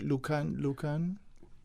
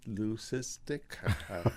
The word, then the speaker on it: leucistic: What, Lucan? What is that right? Am I saying that? Leucistic. I can't pronounce it.